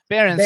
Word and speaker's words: Behrens: That's so you guys, just so we know who you're talking about, how do you pronounce his last name? Behrens? Your last name? Behrens.